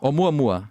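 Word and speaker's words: ʻOumuamua: Oumuamua? Oumuamua.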